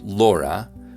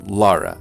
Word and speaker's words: Laura: more than urban areas how about the vowel in this name most urban utahns pronounce laura while rural utahns favor lara a little bit more now vowels